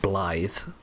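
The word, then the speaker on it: Blaidd: Much like how Blade is spelled like Blade, but then you pronounce it Blythe for some magical reason.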